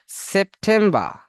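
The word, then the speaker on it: September: কোনো মানে এখানে সেপ্টেম্বর, এখানে তিনটি সিলেবল আছে, সেপ একটা, টেম একটা, বার একটা, তাই না? বার। এখানে যখন একটি দেখুন এই প্রথম সেপ শেষে কি আছে, মানে প্রথম অংশের শেষে আছে পি, এই জন্য এখানে প উচ্চারণ হবে।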